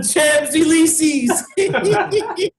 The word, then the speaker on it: Champs-Élysées: Hey, the way it's spelled, that's the way I pronounce it. Champs-Élysées. You must have trouble, like, get your coordinates in Paris, because I'm not sure any Parisian can help you find the Champs-Élysées if you pronounce it like that.